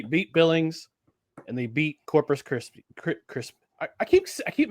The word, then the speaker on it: Corpus Christi: Coming off a successful road trip where they beat Billings and they beat Corpus Christ. I keep I keep mispronouncing. Corpus Christi, not Corpus Krispy.